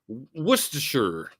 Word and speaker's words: Worcestershire: You can do that with Worcester. Just say Worcester. If you want to pronounce Worcestershire sauce, just say Worcestershire sauce.